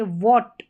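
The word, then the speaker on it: what: यहाँ पर देखिए वॉट, वॉट यहाँ पर एच नहीं पढ़ा गया है, वॉट।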